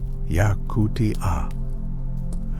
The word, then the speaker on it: Yakutia: Yakutia. Four syllables that contain a world most people cannot imagine.